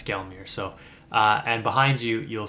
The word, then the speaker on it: Gelmir: And then afterwards, you can travel back to the Mount Gilmer location, or Gelmir, however you say it. I apologize if I mispronounced it. But travel back to this location. Yeah, it's Gelmir.